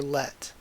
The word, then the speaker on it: Let: Just by that point alone, the magical girl Leth or Let, I'm wondering. I guess it should be pronounced Let, given the katakana spelling I saw. So I'm gonna call her Let.